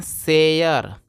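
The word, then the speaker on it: share: है हिस्सा ध्यान दीजिएगा अगर किसी भी वर्ड के लास्ट में अगर आपको आर ई दिखाई देगा तो आर ई को अर पढ़ते हैं तो देखिएगा एस एच ए से अगर से हो गया और से क्या आगे अर हो जाएगा तो क्या पढ़ेंगे शयर इसलिए इसको पढ़ते हैं शेयर और शेयर का मतलब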